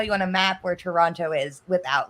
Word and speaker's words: Toronto: I like it when Americans say Toronto. It's always Toronto. It's they emphasize heavy on the O's. Toronto. It's like it's spelled. It's like in Canada we say Toronto. Toronto, like with an A.